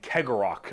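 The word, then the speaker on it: Cegorach: webway, and also guarded by their god named Kegorok, I believe is how you pronounce his name.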